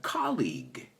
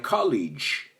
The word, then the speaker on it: colleague: But, bueno, la liga, importante saber decir esto, porque si sabes decir esto, sabes pronunciar colleague. Porque muchos me han dicho, my college, y lo entiendo porque ves una G. Pero si sabes decir la liga, my colleague watches la liga.